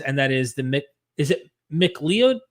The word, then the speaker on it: McLeod: to do things, and that is is it McLeod? How do you pronounce it? It's like McLeod.